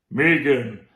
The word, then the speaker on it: M3GAN: The pink symbol is actually 3, so M3GAN, but it's pronounced as Megan.